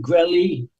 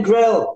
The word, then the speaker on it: Grelle: be like g r l l e e gy gy nice I'm glad we can finally put